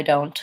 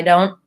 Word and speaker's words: don't: to do there is if I'm saying it very slowly I might say I don't know typically though I'm gonna